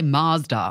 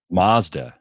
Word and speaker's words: Mazda: who she took her, the Americans say Mazda. Have you heard? Mazda. Yeah. I'm going to drive my Mazda. Yeah. I mean, The go-to would be for them to say Mazda, but they say Mazda.